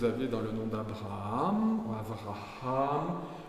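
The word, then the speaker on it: אברהם: dans le nom d'Abraham Avraham là vous avez un H que vous devez prononcer puisqu'il est avant la fin Abraham et Abraham a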